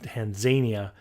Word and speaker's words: Tanzania: We flew over to Tanzania, which I've now learned is actually pronounced Tanzania by the people who live there.